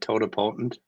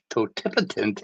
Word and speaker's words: totipotent: I always pronounce that toapotent but totip totipotent is harder to say.